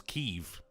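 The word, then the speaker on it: Kyiv: all the joural were referring to Kev as keev yeah and I was like what what the is going oh but that's actually how it's pronounced I don't give a it's Kiev mate oh got nice chicken K always been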